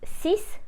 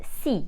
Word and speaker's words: six: mil and remember that when 6 is followed by a number or something else it is not pronounced sis but C same rule for read